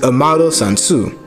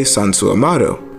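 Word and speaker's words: Amado Sanzu: last name so a model's full name is amaro sansu this is how you pronounce it for americans and for the japanese you would say sansu amaro and is derived from the mythological river the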